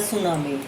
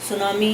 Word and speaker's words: tsunami: यह जिसका टाइटल है सुनामी सुनामी यह टीम साइलेंट रहेगा और यह जापानी नाम